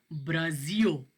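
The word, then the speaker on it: Brasil: इसको आप पढ़ेंगे ब्राज़ियो, ब्राज़ील, एल की आवाज़ नहीं निकालनी है, आपने ओ की आवाज़ निकालनी है। जब भी लफ्ज़ के एंड पे एल आएगा ये आवाज़ ओ की निकालेगा, ब्राज़ियो।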